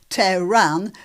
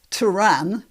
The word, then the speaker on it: Tehran: Right, so let's start with her mispronouncing Tehran as Tehran, and then she mispronounces imminent as imminent.